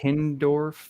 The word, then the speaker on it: Hindorff: Did I say it wrong? No, you actually got it right.